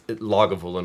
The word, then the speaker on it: Lagavulin: I I I pronounce it differently just for the sake of this song and the phonetics. I say lagoolin, but it's logulan would be actually how you'd say it.